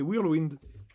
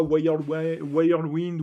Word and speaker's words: Whirlwind: Alors sachez que ça se prononce bien comme ça, hein. C'est Whirlwind. Et pas Whirlwind ou Whirlwind ou quoi que ce soit. Voilà. Ça se dit bien Whirl.